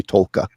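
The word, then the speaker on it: Taake: It sounds like there's an L in it, but I don't think there. Okay. I could be wrong. If anybody hears Norwegian, you can laugh at my pronunciation, but I've heard people from there say Tolka.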